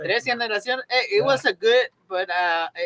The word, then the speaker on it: Tres Generaciones: brutalize the pronunciation, but Trace Generations. Tres Generaciones.